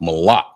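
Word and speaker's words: מלח: So like I said the uh first word was salt and it's pronounced mala.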